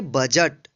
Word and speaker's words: budget: जैसे में देखेंगे BUDGET, इसको पढ़ेंगे बजट। बजट मीन्स होता है बजट। तो यहाँ पे देखिए जी से पहले जो है डी है, इसलिए इस डी का उच्चारण नहीं होगा, यानी डी जो है साइलेंट रहेगा।